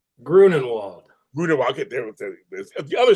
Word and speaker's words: Grunenwald: Grunenwald. Grunenwald. Okay, there's the other spell. Of course, the other pronunciation. Yes, Grunenwald.